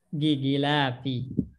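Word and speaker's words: غلاف: Gilafi. Di apa Ustaz? Gi bacanya bukan go.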